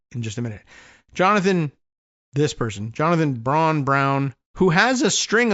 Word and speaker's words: Braun: Says, my name is Brown, but it's spelled Braun, B-R-A-U-N.